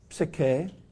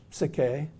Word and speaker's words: psyche: often used greek words the first one is sicke i can't say it just right my greek friends are always correcting my pronunciation i can't never do it right but it's something like sake p s y c